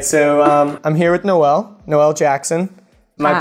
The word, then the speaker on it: Noelle Jackson: live all right so I'm here with Noel Noel Jackson am i pronouncing it correctly yes that's right okay no